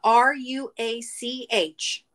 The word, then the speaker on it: Ruach: We are talking about the R-U-A-C-H. The rock, however. Yeah. I can never remember how to pronounce it correctly. Ruach.